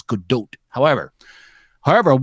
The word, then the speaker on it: Gadot: brushing up the pronunciation gadot is not it's good do't however however what the